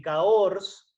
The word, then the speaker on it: Cahors: Es originaria de la región de Cahors. Cahors se escribe C-A-H-O-R-S.